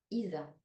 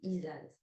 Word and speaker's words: Isa: Onzième rune, Isa, on prononce aussi Isaz.